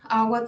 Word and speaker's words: agua: Agua tiene 2 sílabas, agua, y el acento está justo en la primera A.